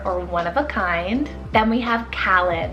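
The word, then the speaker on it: Kahlan: meaning very rare or one-of-a-kind then we have kalin it's called k-a-h-l-a-n callan i truly love this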